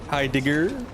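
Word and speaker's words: Heidegger: Hi Digger.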